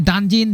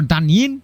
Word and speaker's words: Danjin: Next team is going to be Danjin, Danjin or Danyin. I think both pronunciation will be correct.